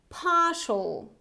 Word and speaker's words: partial: Partial, partial. So again, this is the British variety, so I don't pronounce this R sound, so it's partial, partial. It's not partial, That would be American.